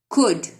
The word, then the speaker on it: could: Could. L is silent.